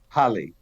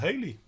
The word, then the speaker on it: Halley: after an English astronomer, Halley. oh, I thought it was called Haley. No, he was actually pronounced Halley.